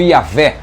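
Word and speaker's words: Javé: Y H w h que também pode ser pronunciado como yavé é uma pronúncia aceitável utilizando-se vogais evidentemente porque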